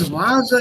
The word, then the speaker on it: Viola: this fur here and since viola is a borrowed word you have to learn the pronunciation as wer and not fur now the most important